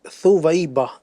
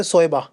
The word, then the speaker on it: ثویبہ: اس کا جو صحیح تلفظ ہے وہ ہے ثویبہ، سا واو یا با ہا، ثویبہ. کچھ لوگ اس کو صوبیہ بھی پڑھتے ہیں، صوبیہ. صوبیہ. ہاں تو یاد رکھیے گا صحیح تلفظ وہ ہے ثویبہ، سا کے اوپر پیش ہے اور یوں ثویبہ.